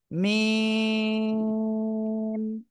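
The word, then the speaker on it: م: মিম আবার বলেন মিম জি চার আলিফ টান হবে মিম মিম মাশাল্লাহ মাশাল্লাহ মাশাল্লাহ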